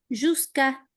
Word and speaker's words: jusqu'à: Jusqu'à. Bien, directamente jusqu'à. La U después de la Q no la pronunciamos nunca.